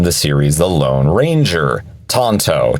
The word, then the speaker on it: Tanto: pronunciation of it tto Tanto is how the Japanese pronounce the blade that they invented now funny thing is